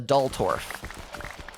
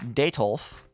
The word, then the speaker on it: Detolf: refer to as a Dultorf. We call it a Dultorf because my beautiful wife did not correctly pronounce Detolf the first time we purchased one.